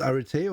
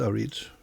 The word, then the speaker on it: Arete: Is it Arete or is it Arit? It can be pronounced either way.